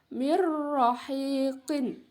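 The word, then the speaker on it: مِن رَّحِيق: Nomor 3, ya, tertulis di situ min rahiqin, ya, dibacanya mirrahiqin, ya. Di situ ada nun sukun bertemu dengan huruf ro.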